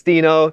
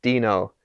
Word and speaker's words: Deno: dino and so it's dino the canonical pronunciation is dino it's like gif just so everyone knows